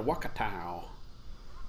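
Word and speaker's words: Wakatu: Simcoe and Wakatow.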